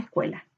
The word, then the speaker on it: escuela: Veamos escuela. Escuela, escuela. Cue es la sílaba tónica.